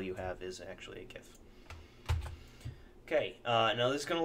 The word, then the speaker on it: GIF: actually putting a gif notice I said gif with a hard G anyway I'm putting a